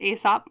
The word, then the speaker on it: Aesop: believe you pronounce it Aesop, like Aesop's Fables, if I'm not mistaken.